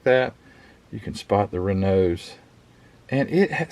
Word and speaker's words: Renault: number four of the 1906 Rena and I said it right to all the Frenchmen the Renault Town Car